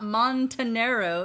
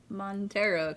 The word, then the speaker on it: Montero: lil nazar and tara you always want to add an extra syllable in there it's not montenero it's just montero but trying to rename